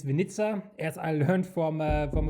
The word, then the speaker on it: Winnica: T now they Solaris 2023 so uh it's Venza as I learned from from a Polish contact I always said Vena yeah of course you uh you pronounce or